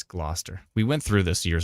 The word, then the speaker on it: Gloucester: oh Gloucester that's right it's not Chester it's Gloucester we went through this